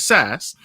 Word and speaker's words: SaaS: particularly business-to-business startups um s-a-a-s startups i gotta spell it out because i have an audio audience as well s-a-a startups which is sas um and he is taking businesses to the